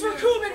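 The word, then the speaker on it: Recoome: My name's Rakumen, rhymes with doom, and you'll be hurting all too soon.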